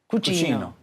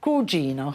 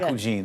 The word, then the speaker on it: cugino: Tell everyone in Italian, cousin is pronounced? Cugino. Cugino. Cugino. Yeah. Not cugine, that's a different, that's a...